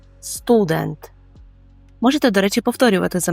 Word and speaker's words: student: бути уважним тому що наголос у польському слові стоїть деінде Ми кажемо Student Student можете До речі повторювати